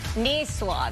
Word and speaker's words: niçoise: Niçoise.